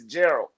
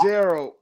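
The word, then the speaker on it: Geralt: how they ran into Gerald. And uh I also realized I've been saying his name wrong for the longest. I say it with a D at the end instead of a T.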